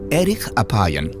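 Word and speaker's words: אֶרֶךְ אַפַּיִם: En hebreo, la frase lento para la ira se pronuncia erich apayan, literalmente de larga nariz.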